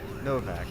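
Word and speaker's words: Novac: If you ever played like Fallout New Vegas and see entire Novak, it's pronounced just like that.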